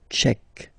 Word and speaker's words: tchèque: La République tchèque. So remember, Q-U-E, K, Tchèque.